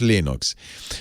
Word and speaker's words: Linux: name is i pronounce lenox linux that was for a long time linux came with a sound file of linus explaining how to pronounce his name and linux and uh it's it's burned into my brain my name is linus and i pronounce linux linux anyway linus he's a